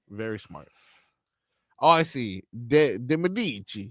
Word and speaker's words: De Medici: De Medici. You got to say it like that.